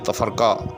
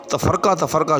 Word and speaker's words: تفرقہ: ہے، اسی طرح سے تفرقہ جو ہم کہتے ہیں اس کا درست تلفظ جو ہے وہ تفرقہ ہے، یعنی فاعل۔ جی ہاں، یعنی بالعموم اس کو تفرقہ فعول کے وزن پر بولا جاتا ہے، تو ایسا نہیں ہے، بلکہ تفرقہ فاعل، تفرقہ علم۔ تو جب بھی